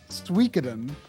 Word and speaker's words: Suikoden: back and forth like i always used to say suey coden but then dave says suikoden because that's kind of closer to how they say it in a japanese commercial that he looked up and so like i